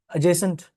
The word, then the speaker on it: adjacent: Ajourn adjacent that's another word in all of them the D is silent okay the D is